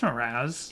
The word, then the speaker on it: Mraz: Is it not Mraz? No, it's Mraz. Is it? Now I'm confused because of how he pronounced it.